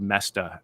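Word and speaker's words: Moesta: it's it it's m-o-e-s-t-a it's actually not hard to spell but the spelling doesn't look like the pronunciation Bob messed up on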